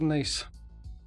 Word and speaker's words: Nice: But they pronounce it Nice.